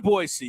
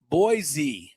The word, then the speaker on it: Boise: Yeah, come to Boise, you'll love it. And when you come here, don't forget it's not Boise. Yes. It's Boise. Yeah. And if you pronounce it right, they love you here.